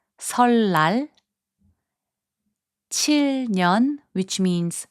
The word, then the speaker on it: 설날: 설날, which means Lunar New Year, is pronounced as 설날.